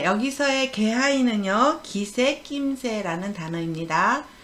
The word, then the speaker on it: 気配: 그런데 여기는 기색이나 낌새를 나타낼 때는 개하이라고 합니다. 요건 조심하세요. 개하이. 네. 기온기의 단어와 예문입니다. 기온, 기온, 기분, 기모찌, 갑자기 기온이 높아졌습니다. 急に気温が高くなりました。 가을이 느껴집니다. 秋の気配がします。 네, 여기서의 개하이는요, 기세, 낌새라는 단어입니다.